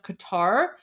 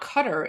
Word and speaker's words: Qatar: Um I think I think the pronunciation is the same right because um no it's not cutter it's you you guys just don't have that sound in English that's why people say like Qatar it's it's definitely